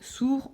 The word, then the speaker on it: sourd: À la fin du mot sourd, on met un D. Est-ce qu'on l'entend quand il est au masculin? Non. En revanche, quand je mets sourd au féminin, sourd devient sourde.